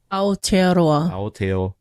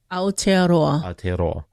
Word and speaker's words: Aotearoa: It's, go ahead, Aotearoa. Aotearoa. So you gotta kind of roll your R a little bit. So that's how you would say it.